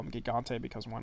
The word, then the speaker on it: Gigante: Uh El Giggante or Eliante. I know it's a soft G. I just call him Gigante because why not?